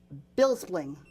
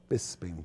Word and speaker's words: Bisping: a big fight you fight you fought um bills spring bills spring how do you say that Bisping Bisping Bisping and a lot of people thought